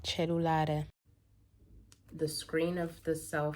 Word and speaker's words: cellulare: Just listen to this, and I think it's meant to be pronounced cellulare.